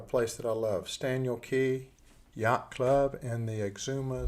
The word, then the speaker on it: Cay: vacation with the family first off Cy is pronounced key so secondly we were in an airplane I was looking back in my journal 9:55 a.m.